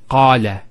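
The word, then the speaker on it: قال: First one here is qala. Notice the elongation of the A sound. Qala, not qala, qala. So we have the fatha on the qaf followed by the alif.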